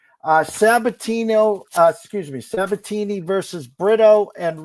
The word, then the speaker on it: Sabatini: How do you get Sabatino? Come on now. Jeffrey Sabatini.